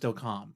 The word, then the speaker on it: Delcambre: And then we're going to talk about, it's spelled Delcambre, Louisiana, but I think it's actually pronounced Delcambre. I don't know. That's the way they pronounced it on the History Channel. So I'm going with Delcambre because that's the way they said it on there.